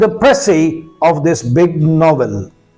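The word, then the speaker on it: précis: उर्दू में कहेंगे उसकी तखस कर देना उसको प्रसी कहा जाता है। What is द प्रसी of this big नवेल?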